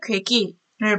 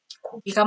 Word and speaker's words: 고기: 고기 대신에 괴기를 말하기도 합니다. 그런데 이렇게 말하는 것들은 사실은 전부 다 표준 발음이 될 수 없어요. 그래서 우리는 사실은 어머, 아기가 귀엽네요 라고 해야 됩니다. 애기라고 하면 안 되고요. 애미야, 국이 짜다가 아니라 어미야, 국이 짜구나 라고 해야 됩니다. 고기가 맛있네요 해야 되고요.